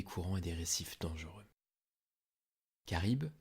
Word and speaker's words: Charybde: et des récifs dangereux karibe qui se prononce ainsi mais qui s'écrit sharif avec un y était la fille de